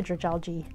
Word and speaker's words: Dragalge: It sounds like algae, so just say Dragalge.